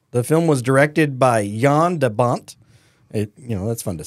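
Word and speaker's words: Jan de Bont: June 10th 1994 the film was directed by yon debont you know that's fun to say that is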